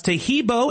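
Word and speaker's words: Taheebo: Tahibo is spelled T like Tom, A-H-E-E-B like boy. Oh, that's Tahibo, and then continue with the word tea and then the word club.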